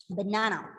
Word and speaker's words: banana: So in that video, they are talking about the word banana. Okay, banana. So which is a syllable stressed here? Na. Middle. Na. The middle Na. syllable is stressed, and these two are the unstressed syllables.